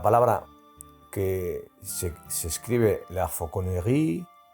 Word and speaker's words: fauconnerie: Por eso la palabra que se escribe la fauconnerie, realmente la segunda E desde el final no se pronuncia. Y la pronunciación en el sistema internacional, que lo tenemos aquí puesto, es fauconnerie. Fauconnerie.